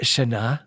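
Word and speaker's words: שנה: Shana.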